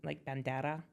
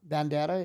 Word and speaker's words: bandera: Do you know how to roll your R's like bandana? No, bandera.